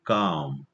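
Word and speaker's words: calm: काम सायलेंट या ठिकाणी काम पण झालतो काम उच्चार करतोय मी काम आणि त्याचा स्पेलिंग आहे सी एल M before kids had silent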